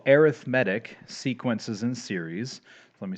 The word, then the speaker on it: arithmetic: It looks like arithmetic, but if you're using it as a noun, you pronounce it arithmetic.